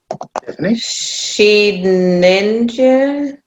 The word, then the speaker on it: Shedinja: I think it's Shedinja. Yeah, I think Shedinja too. Because it's Shed and Ninja is what it's a portmanteau of.